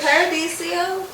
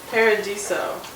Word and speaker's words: Paradiso: co37 at disney's friendship is it paradisio or paradiso paradiso so i've been singing wrong the whole time but i've been saying it right okay we're into paradiso 37.